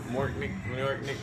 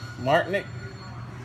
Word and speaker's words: Martyniouk: The Martyniouk, some shit.